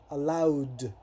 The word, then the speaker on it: allowed: Eh, me acuerdo y les envié un video cómo se pronuncia la ed al final. Son casos muy puntuales que suena el id, como cuando dice wanted, decided, pero la mayoría es la gran mayoría es allowed, no allowed, no, it's allowed.